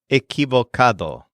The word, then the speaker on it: equivocado: And next we have the word for wrong, which is equivocado. That's quite a mouthful, a 5-syllable adjective.